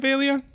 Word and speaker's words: Velia: Velia down here, or I don't know why I keep calling it Velia. Well, is it Velia? That may be actually the name of it. Vela.